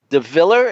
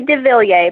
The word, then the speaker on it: de Villiers: And then we also, in addition to Shaun Robbins, we have Jen DeViller. Is that the way you pronounce it, Jen? It's actually de Villiers, but pretty close.